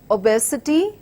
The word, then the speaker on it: obesity: moodle multi syllabic words obesity starts with the schwa unstressed completely then with our stressed syllable B and followed with unstressed syllables with an unstressed syllable again so these are the